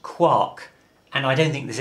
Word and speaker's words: quark: that protons and neutrons are made up of quarks a proton has two up quarks and one